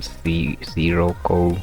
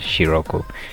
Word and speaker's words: Sirocco: Although it started with it's some people might say it's called siroco or something but from the pronunciation of the uh overview they they say it's called shioku. So shioku is a titan